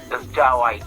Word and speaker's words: Jah Wyz: No, it's on our digital platforms, And then the name is Jawise. It's spelled JAH with space WYZ, Yeah.